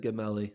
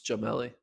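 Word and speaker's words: Gemili: russell but adam jamelli i said his name wrong i said gemelli it's jamelli well they they said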